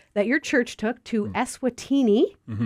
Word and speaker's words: Eswatini: Tell us a little bit about this trip to Africa that your church took to Esatini, if I'm saying it right.